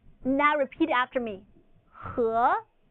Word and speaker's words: 和: The English letter E is pronounced as and it sort of sounds like UH in English. Now repeat after me. 和, 和.